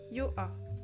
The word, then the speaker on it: Yoha: Le personnage s'appelle Yoha. Ça s'écrit Y-O-H-A.